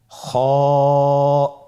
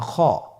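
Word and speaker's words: خ: খ হরফটির মাখরাজ হলো কণ্ঠনালীর শেষ ভাগ হতে উচ্চারণ করতে হয়, কণ্ঠনালীর শেষ ভাগ।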